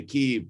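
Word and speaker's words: Kyiv: changed the name to keeve but uh it's kiev right is yeah i heard they did that because that's closer to how ukrainians pronounce it but then are we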